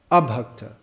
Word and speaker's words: abhakta: So Krishna abhakta, Krishna bhakta. You have to say it properly.